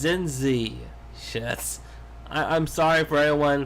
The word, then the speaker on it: Zinzi: I think that's her name was Lindsay Mandela.